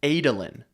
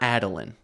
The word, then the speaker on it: Adolin: Found out the son of Dalinar Kholin, his name is pronounced Adolin, not Adolin.